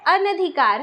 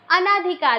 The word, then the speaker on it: अनधिकार: अनधिकार। हम हमेशा लिखते समय कैसा लिख देते हैं? अनाधिकार, लेकिन इसका शुद्ध उच्चारण अनधिकार ही होता है।